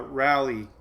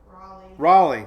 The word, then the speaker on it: Raleigh: year took me forever to learn how to pronounce rally a rally what is it Raleigh say I did it again oh let's see